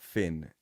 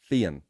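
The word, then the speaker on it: Fionn: I know about him is his name's not Finn and it's pronounced no no I know I know I know the way it looks but it's pronounced Fen I think Fen oh interesting yeah no no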